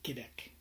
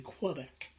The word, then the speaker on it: Quebec: no so i say quebec it's because i am part of france uh and so i use the french pronunciation rather than quebec in quebec um i